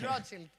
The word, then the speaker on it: Rothschild: That's why the Rothschild, I have another pronunciation. It's Rothschild.